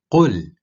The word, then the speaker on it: قل: قل, say. If the qu is pronounced as ku, it turns into kul, or eat. قل, say. Kul, eat.